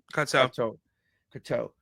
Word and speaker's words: Cocteau: Yeah, Cocteau.